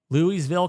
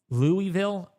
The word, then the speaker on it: Louisville: Louisville, Kentucky.